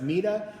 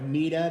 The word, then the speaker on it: Meta: name uh some Scholars refer to her as ma others as meta I'm going to go with MAA that's the pronunciation they use in the PBS documentary about